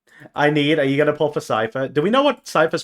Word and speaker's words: Cipher: Don't worry, Cipher. We're talking about Cipher, not Cyher.